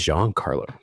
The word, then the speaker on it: Jean Carlo: So, my name is Jean Carlo. Oh, right. Okay. Jean Carlo. Cool. It's a French pronunciation.